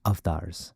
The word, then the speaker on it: avatar: But in my private moments, just like this, I entertain the possibility that, we are avatars, or, as we should properly pronounce it, avatars.